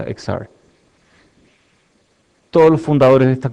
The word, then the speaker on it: Exar: que se llama exar que se escribe exar y tiene xr que en inglés se pronuncia exar todos los fundadores de